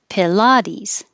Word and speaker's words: Pilates: Pilates. Pilates. Did you hear a difference? It's very hard. Pilates. Pilates. You really should hear is the the la, because that's what's being emphasized and stretched.